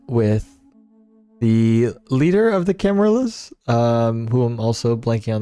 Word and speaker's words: Camarilla: Is that how it's pronounced? Camarilla.